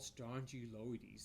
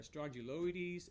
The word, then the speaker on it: Strongyloides: confusing that it's called Strongyloides it almost sounds like it's a strong jaw parasite it rhymes with it the first syllables of that word is identical but